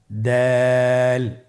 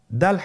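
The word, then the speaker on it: دال: দাল হরফটি বারিক হরফ। এ হরফটি উচ্চারণ করার সময় আমরা অবশ্যই তিন আলিফ টেনে পড়বো।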